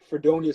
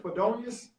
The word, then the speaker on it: Fredonia: How do you pronounce it? Fredonius? F like Fred Onia. So Fredonia State.